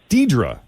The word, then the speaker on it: Deirdre: Hello, is this Deirdre? Yes. Do you pronounce it Deirdre or Deirdre? It's spelled Deirdre. Deirdre.